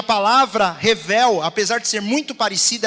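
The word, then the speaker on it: הֶבֶל: Essa palavra, vaidade, ela é a palavra que em hebraico ela é pronunciada como revel ou rebel.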